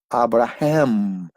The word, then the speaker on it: Abraham: dan cuenta la h inglés la h j avraham y la pronunciación de la m n m habrá primero